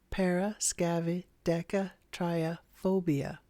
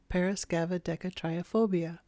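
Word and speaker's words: paraskevidekatriaphobia: have a condition called Paris gavid deat trophobia let's say that again it's pronounced Paras scava triop phobia parasca trophobia which is a mouthful but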